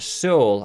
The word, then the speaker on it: Seul: to a game called soul I believe it's how you say it it's French and it means alone now this game is